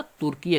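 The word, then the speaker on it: Türkiye: देखिए ध्यान से उच्चारण को देख लीजिएगा, तुर्कीय कर दिया है।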